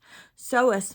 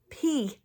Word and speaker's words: psoas: would hurt because it would be using the psoas muscle, and that is spelled P-S-O-A-S.